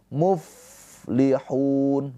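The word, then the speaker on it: الْمُفْلِحُونَ: Jadi jangan mubli mub tapi muflihun. Mengalir ya nafasnya.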